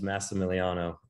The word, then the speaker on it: Massimiliano: I'm super excited yes so give us the pronunciation first name go everyone owes me as but my real name is massimiliano um long one my dad was Dad was